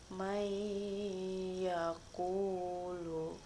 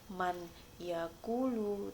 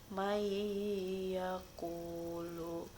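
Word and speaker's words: من يقول: Contoh, may yaqulu, nun matinya langsung dimasukkan ke dalam ya, jadi bukan man yaqulu tetapi may yaqulu.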